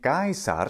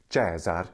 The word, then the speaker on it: Caesar: about this before but it is indeed gar in classical Latin and jaar in the ecclesiastical Latin pron pronunciation and also in that lovely German Slavic pronunciation of Latin it's so which one